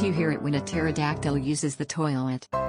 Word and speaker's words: pterodactyl: hear it when a pterodactyl uses the toilet the p is silent what did the first